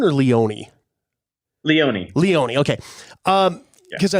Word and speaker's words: Leone: you know kind of damien is is it pronounced leon or leone leone leone okay um because i know everything that